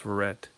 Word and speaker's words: Verrett: Clemens was 4-5 with a 4.04 ERA, and Logan Verrett, and he's from Texas, so it's pronounced Verrett, um, and he was 3-8 with a 5.20 ERA.